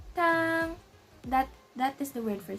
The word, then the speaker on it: 汤: So as you can see, it has the first tone or the dash, the one that looks like a dash. So we're gonna sound like ah, ah. So we're gonna pronounce it as tang, tang.